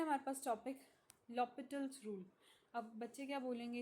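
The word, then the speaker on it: L'Hôpital: एल हॉस्पिटल rule. This is नॉट अ हॉस्पिटल rule. It's लॉपिटल rule. यहां पे जो एच होता है वो क्या होता है चिल्ड्रन? साइलेंट होता है।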